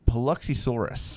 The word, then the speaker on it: Paluxysaurus: are they talking about um chad can you pronounce that that dinosaur name that uh absolutely it is the paluxysaurus hey there we go plucky swords it's actually